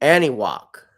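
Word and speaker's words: Anahuac: place is okay so this is how you pronounce it anok any walk any walk I see here so it is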